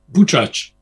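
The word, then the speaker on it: Buczacz: Am I pronouncing correctly? Buchaz.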